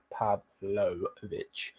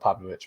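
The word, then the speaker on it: Pavlović: with uh pav again oh I spot his name wrong pavic uh there he is again come on come on lineup Builder you need to get the picture of pavlovich man he's a legend uh or will be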